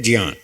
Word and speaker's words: ज्ञान: संस्कृत वालों ने हमको ऐसे ही सिखाया कि इसका शुद्ध उच्चारण है ज्ञान।